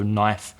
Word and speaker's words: knife: to pronounce we had knife before and knives which has a silent K that you do not pronounce so knife and knives and I have a